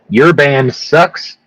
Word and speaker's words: URBANDSUX: It is called Your Band Sucks, spelled You Are Banned, like a normal person would spell it, and then sucks like a high schooler would spell it, su X.